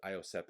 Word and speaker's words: Iosepa: And Iosepa, I think it's what it says. Iosepa is how you say it.